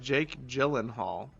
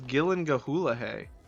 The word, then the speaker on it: Gyllenhaal: It was like a It's It's pronounced Jake Gyllenhaal. I thought it was Gillan Gahula. I just choose to say I just choose to say Gillan Hall.